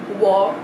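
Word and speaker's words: Waugh: fast-paced so we'll see well i have evelyn war which i was corrected by because i thought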